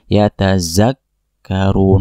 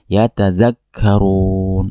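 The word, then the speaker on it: يتذكرون: Kemudian di huruf za juga dia seperti mengucapkan huruf zai, yatadzakkarun. Harusnya itu huruf za, yatadzakkarun, begitu ya.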